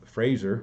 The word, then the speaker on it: Fraser: Dom's was the preeminent sculptor in those days and turns out Fraser rhymes with laser Fraser was his best